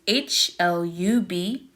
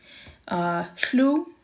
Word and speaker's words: hlub: So HL, if you ever heard the word HLU, which is HLUB, HLU. So we do pronounce the H and the L together.